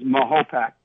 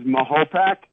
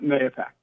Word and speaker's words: Mahopac: If you hyphenate it, Mahopac, that's the way it's pronounced, is Mahopac.